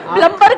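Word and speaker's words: plumber: हो सकता है सर उसको खुद ही नहीं पता कि बी साइलेंट है।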